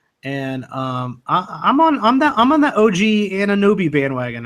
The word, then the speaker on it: Anunoby: And I'm on that OG Anunoby bandwagon. I know that's not how you say his name.